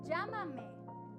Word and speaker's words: Llámame: Llámame, llámame with the accent here, so we're gonna pronounce it higher.